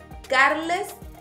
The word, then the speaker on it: Carles: It can be confused with the name Carl, but the pronunciation is different. Carles Puyol. And it will be the Catalan version of the name Charles. The Spanish version is Carlos.